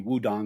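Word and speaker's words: Wudang: think of is probably wudong Mountain which is uh where Wu-Tang got their name from it's actually pronounced dong uh but that they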